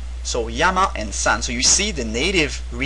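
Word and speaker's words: 山: Now the Chinese pronunciation of this character is actually shan, the first tone for those who know Chinese.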